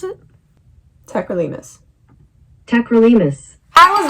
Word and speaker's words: Tacrolimus: Tacrolimus? Is that how you pronounce it? Tacrolimus. Tacrolimus.